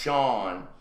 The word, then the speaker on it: Shannon: He told troopers that Shannon, pronounced Sean, rode around a small mound, did not reappear.